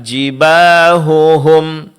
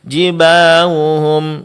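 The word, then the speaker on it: جباههم: Ya, di sini huruf ha berdekatan dengan ha. Jibahuhum sering terjadi ha di sini tidak diucapkan dengan jelas sehingga mirip dengan huruf wau. Jibahum jibahum. Ya, ini kesalahan. Seharusnya dibaca dengan jelas.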